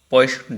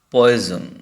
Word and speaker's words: Poisson: From my experience, I observed that some of the students pronounce the word poison. No, it's not poison. Poison means toxin, and in that time, in the spelling, there is single S, but there is double S.